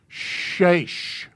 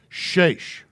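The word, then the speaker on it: שש: It's a shin. Sheish. Just pronounce this part. It's, and then add the S. Well, that's really terrible. Add the SH. Sheish. And you got it.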